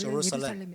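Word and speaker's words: Jerusalem: 미국 사람이나 저 있는 사람들 주루살렘이라 그러잖아요. 근데 원래 제루살렘.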